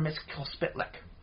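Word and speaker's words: Mxyzptlk: uh the Imp from The Fifth Dimension Mr Miss K splick and yes I did pronounce that right there's no vowels in the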